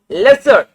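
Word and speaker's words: lessor: Lesie then lesser or you can call it lesser. Okay, whatever way you call it, it's up to you. Now people, what rhymes with owner? Lesser.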